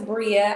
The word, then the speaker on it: Breia: have Bria on here I am saying it right Bria right okay so we have Bria